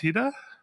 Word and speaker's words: Hida: So Hida, is it pronounced Hida?